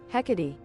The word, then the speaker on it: Hecate: How do you say this name? Oh, I said it right. Hecate.